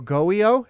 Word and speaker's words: GOEO: governor's office of Economic Opportunity it is so goio is that how you say it yeah that's